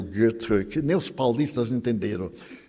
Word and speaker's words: Goethe: E existe Goethe, eu sabia pronunciar Goethe, antes eu pronunciava Goethe, mas eu tenho uma amiga suíça, e ela me disse, em alemão, não tem os sons agudos, é Goethe. E também não tem os acentos, toda a palavra é acentuada.